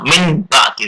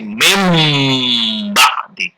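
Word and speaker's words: مِنْ بَعْدِ: Membacanya enggak min ba'di, tapi mim ba'di. Tidak ada n, tapi diganti ditukar dengan m, jadi mim ba'di.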